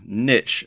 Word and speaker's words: niche: Choosing the right niche, or niche as some people pronounce it, for your membership